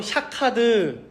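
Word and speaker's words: שקד: 근데 히브리어를 하는 사람들, 아는 사람들이라면이 샤케드라는 단어를 듣자마자 생각나는 아주 비슷한 단어가 있는데 뭐냐면 바로 샤카드라는 발음에 지키다, 깨어 있다라는 단어예요.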